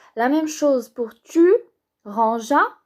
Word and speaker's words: rangea: La même chose pour tu, rangea. On ajoute le E pour que ça se prononce pas G. Alors on ne dit pas ranger, mais ranger. On ne dit pas ranga, mais rangea.